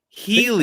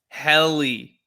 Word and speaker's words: Helly: Healy. All the cool people. No. Helly. That's how you say it. We had a whole long talk about that one because I kept saying Healy.